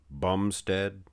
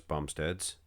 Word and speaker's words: Bumstead: Have you guys ever noticed Bumstead rhymes with lat spread?